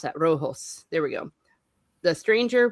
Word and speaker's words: Rojo: a violent feud between the Baxters and the Roos. I probably mispronounced that. Rojo.